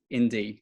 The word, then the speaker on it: IN-D: that's cool see i didn't know that part indy well i've been pronouncing your platform's name wrong the whole time